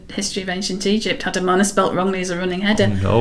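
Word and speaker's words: Amarna: mink alright yes um the one that people really fall down is actually the name of the city amana yes many many people think it's our mana yeah a-r-m and it's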